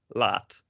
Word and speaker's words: laat: We have laat with a T, and then we have this other word, which is pronounced exactly the same, laat. It's not pronounced laad.